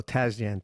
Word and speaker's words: Tasjan: Tazjan. Tazjan. Tazjan. Do I pronounce that correctly?